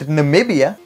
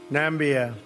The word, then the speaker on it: Namibia: Trump hosted African leaders he mispronounced Tanzania Tanzania and Namibia nambia nambian I'm kind of surprising